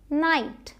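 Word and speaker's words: knight: यह साइलेंट होगा। Knife no नाइट। के का कोई साउंड नहीं आया।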